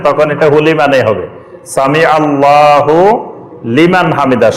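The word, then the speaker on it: سمع الله لمن حمده: এটা হুলিমান হুলিমান ঠিকই আছে, এটার উচ্চারণ যখন একসাথে পড়বেন তখন এটা হুলি মানে হবে, সামি আল্লাহু লিমান হামিদা। শব্দ আলাদা, কিন্তু যখন আপনি একসাথে পড়বেন তখন সামি আল্লাহু লিমান হামিদা।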